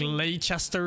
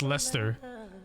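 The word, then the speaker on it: Leicester: one what's it called Lester but then it it spells like Le Chester or something but it's just Lester it skip like half the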